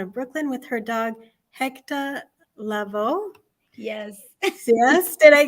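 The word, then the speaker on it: Héctor: wanted to make sure everybody said it like we would say it at home, which is Hector. So it's spelled HECTAH. And so he's Hector Lavoe.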